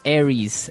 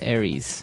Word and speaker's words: Aries: Greek mythology that's right and uh so it's pronounced Aries Aries a-r-i-e-s Aries that's right and the other one